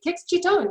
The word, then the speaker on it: Kix Citton: Kix Citton, you did it.